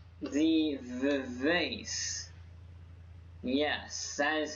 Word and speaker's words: Vivace: It's called the Vivace. Yes, that is how you pronounce it.